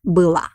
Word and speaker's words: было: Again, pay attention on the pronunciation of the last letter O in the word было. We write O, but pronounce it like A because it doesn't have a stress.